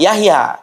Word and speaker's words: Jahja: Setelah itu kalau tulisan Y ya, kalau J itu contohnya Yahya, tulisannya itu Jahja, Jahja ya, bacanya apa? Yahya kan begitu.